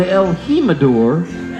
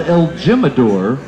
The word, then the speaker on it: el Jimador: for four dollars an el Jimador which is spelled el Jim adore for also four dollars